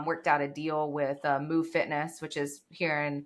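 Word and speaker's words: Muv: Did you say moo fitness? Like moo like a cow? I was like, oh my God. I was like, what kind of gym is that? Hey. Yeah. And it's interesting. It's spelled M-U-V. Move.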